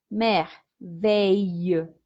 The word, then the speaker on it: merveilleuse: Entonces, cuando pasamos este adjetivo al femenino, decimos merveilleuse. ¿Listo? Ahí sí ya estamos hablando de la S.